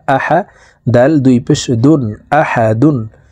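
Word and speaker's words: أحد: আ হা জবর হা আহা দাল দুই পেশ দুন আহাদুন দালকে এখানে এভাবে থামবো দাল যেহেতু কলকুলার হরফ নিচের দিকে ধাবিত করে ধাক্কা দিয়ে সাকিন করে ফেলবো আহাদ আহাদে কুলহু আল্লাহু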